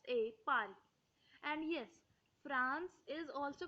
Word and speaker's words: France: called France or France, because in France people don't usually uh, usually pronounce the R, so they speak France. But I would here pronounce R, because you are all beginners, so you need practice. And if you say R, it is not a problem, because speaking R is correct, but the local people of France don't speak R, don't pronounce R. They usually skip it.